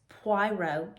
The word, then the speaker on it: Poirot: Poirot, that's how you say it, Poirot reasons.